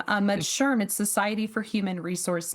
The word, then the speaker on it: SHRM: No, you said it correctly, which most people say SHRM. Yeah, most people think it's like mushroom. Um but SHRM is Society for Human Resource Management.